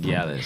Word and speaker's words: gyalis: Gallus. Like the gal them. Yeah. Gallus. Oh. Gallus. See, my family half Bahamian, but I don't really know them like that. So Yeah, what? Gallus.